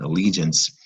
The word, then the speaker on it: allegiance: Allegiance is a 3-syllable word. Stress on the li.